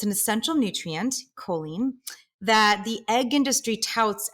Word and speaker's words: choline: So my question for you, Julieanna, first and foremost is, what is choline? And am I pronouncing it correctly?